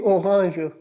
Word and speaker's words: Orange: Next one is die Orange. Die Orange, the orange. The orange will be like die Orange. Its spelling remains the same with English, just a slight tilt in the pronunciation.